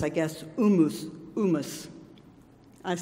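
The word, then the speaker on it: humus: from the first service helped me learn to pronounce correctly is H um US and Latin it's I guess Loomis Loomis I've said hummus but you know I like hummus but it's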